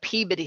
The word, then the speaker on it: Peabody: do we have here let's talk about the peabody sisters and that's how you say it folks